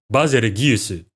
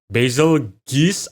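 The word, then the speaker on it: Bazelgeuse: you pronounce Basil's name Japanese dos pronounce it bazu while English dubs pronounce it basil geese I think the name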